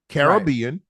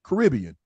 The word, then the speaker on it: Caribbean: Now, there's 2 ways to pronounce this. Some people say Caribbean, and some people say.